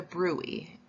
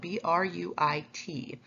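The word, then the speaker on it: bruit: So you are going to listen with your stethoscope right over the fistula to hear the brui, which is spelled B-R-U-I-T.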